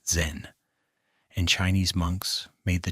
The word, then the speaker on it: Zen: Chan, which emphasized direct experience over scripture and text, traveled to Japan and became known there by the Japanese pronunciation of its name, Zen.